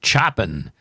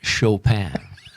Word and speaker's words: Chopin: but i um identified choppin as the composer of this piece and followed by got a nice beethoven a friendly album a friendly call from elizabeth that's pronounced chopin chop it chop it